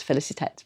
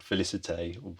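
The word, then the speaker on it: Félicette: Oh well, I've been saying the name wrong. I've been calling it Felicite, but that's. I think it's Felicet. Yes, it was. Felicet.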